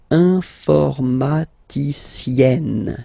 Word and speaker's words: informaticienne: You open your E, so it's E. Informaticienne. Okay, so I tend to insist a little bit. Okay, don't worry, I will pronounce it a bit more normally after. Il est informaticien. Elle est informaticienne.